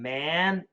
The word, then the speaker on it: man: is could you explain the difference between man and Men pronunciation difference is a short a and a short e so the short E